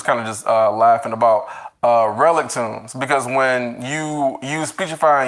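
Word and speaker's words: Relictombs: the audiobook, and then the way that they had pronounced it in the audiobook was relic tunes, and I'm just like, oh, okay, so I guess it's relic tunes now. It's not relictums, but I was saying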